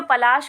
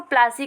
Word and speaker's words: पलाशी: तो जो पलाश के फूल होते थे उसकी वजह से वहाँ का नाम पलाशी पड़ा, और जो अंग्रेज़ थे वो पलाशी को प्लासी कहते थे, यानी कि उनका प्रोनाउंसिएशन